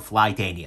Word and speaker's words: Flytanium: reviewer recently uh so there's a company called flytanium and i'll go ahead and i'll drop a